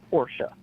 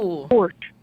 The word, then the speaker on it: Porsche: I kid you not, we had a 30-minute fight out of how to say the word Porsche. Oh. He's like, Porsche.